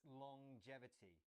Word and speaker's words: longevity: It's a little bit strange. It's longevity. So we have the ng at the end of long as normal, but then there's this j sound as well.